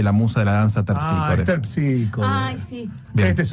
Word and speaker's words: Terpsícore: Esther Píscore. Basta, Esther Píscore. Esther Píscore, dijo. No dije Esther. ¿Cómo que no dije? Dije, es... Terpsícore. Ah, es Terpícore. Esa es la pronunciación griega, claro.